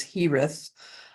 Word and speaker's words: Girez: HTH and um one the way he spells his name is GI re EZ but it's pronounced in English at least as hith um and he sings